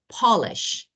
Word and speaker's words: Polish: He is polishing, polish.